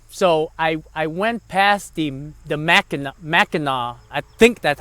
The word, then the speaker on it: Mackinac: So I went past the Mackinac, I think that's how you say it, the Mackinac Bridge, which is over in Michigan, and that was a beautiful bridge.